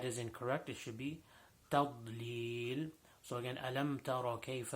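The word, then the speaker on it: تَضْلِيل: Now tadlil, the toughest letter in there is the letter dad. And again, we talked about dad in the last video that we did in Surah Fatiha. So making sure that we pronounce the dad properly.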